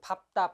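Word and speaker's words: 밟다: 그럼 자, 리을 비읍은 언제 비읍으로 발음하느냐? 밥다입니다. 발다가 아니라 밥다. 이 밥이라는 걸로 시작하는 말들은 다 비읍으로 읽으시면 돼요. 밥다, 밥고, 밥지, 밟는다 이렇게.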